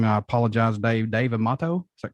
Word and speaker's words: Dave Amato: Dave Amato. Is that correct? Dave Amato.